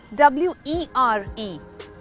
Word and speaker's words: were: But this is WERE. It's were. We were late. Where नहीं।